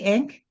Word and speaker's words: ankh: do you say it there ank you say ank yeah how do you that say it ank